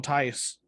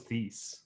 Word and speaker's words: Tice: I thought it was Thies. I think I heard it pronounced Tice. Like I'm butchering these names. I don't even care, but I'm pretty sure it's pronounced Tice.